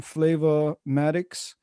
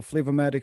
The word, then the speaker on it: Flava Matikz: that that's the handle flavo matic straight right f-l-a-v-a-m-a-t-i-k-z but the way i spell it is like kind of two names so flavor is the first name is the second name so sometimes you may